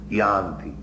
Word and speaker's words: yanti: Y actually the pronunciation is yanti yanti this should be preached all over is education of the humanities.